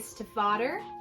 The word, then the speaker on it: Stiefvater: such as Call Down the Hawk by Maggie Stiefvater, I believe is how you say her name.